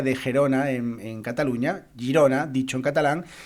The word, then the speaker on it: Girona: no eran catalanes pues nombraban eh Girona como chirona chirona eh Bueno pues por la manera eh exagerada un poquito de pronunciar en catalán eh la que fonéticamente es Girona entonces eh era una una manera de eh de pronunciar esta palabra de manera eh digamos un poco exagerada de ahí la palabra